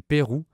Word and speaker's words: Peyrou: On crée également la promenade royale du Pérou, le nom du quartier où elle est. C'est la même prononciation que le Pérou, le pays d'Amérique du Sud.